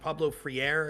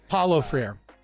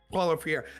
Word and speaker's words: Paulo Freire: And I can never pronounce his name right. Pablo Freire, is that his name? Paulo Freire. Paulo Freire.